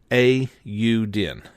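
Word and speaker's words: Eiyuden: oh yes that is I actually figured out finally how to say aodin Chronicles 100 Heroes let me try that again Auden Auden so that is the official pronunciation of it um I'm hardly don't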